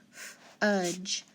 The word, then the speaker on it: fudge: And the next one, D and E is silent, and then dot the G, short U, fudge, fudge.